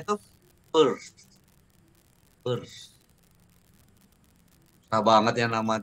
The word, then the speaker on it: Peirce: Kan Peirce ya, tapi bacanya tuh Peirce.